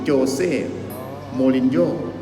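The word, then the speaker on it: José Mourinho: อ่า de โคช ฟุตบอล special วัน ที่ ชื่อ โจ เซ่ มู ริน โญ่ ซึ่ง กว่า ก็ เป็น โค้ช ที่ มี ฝี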